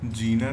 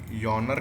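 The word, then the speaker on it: genre: इसका प्रोनाउंसिएशन देखो, शायद यॉनर कहते हैं, यॉनर, जीनर लिखते हैं, यॉनर कहते हैं। ये डायरेक्टर हो गए, जॉर्ना, क्या रिपीट करो जरा। हाँ, जॉनर, जॉनरा कहते हैं।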